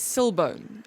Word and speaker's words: El Silbón: El Google says Silbone. El Silbone. So, I did go and actually try and get the pronunciation and listen to it. It's El Silbone.